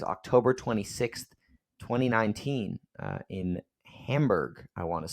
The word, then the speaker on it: Hamburg: 26th 2019 uh in Hamburg I want to say uh Hamburg Hamburg it's not hamburger it's Hamburg okay I'm sorry I